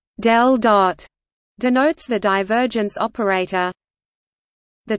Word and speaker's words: ∇⋅: The symbol pronounced del dot denotes the divergence operator.